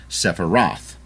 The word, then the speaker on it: Sephiroth: The American pronunciation is Sephiroth.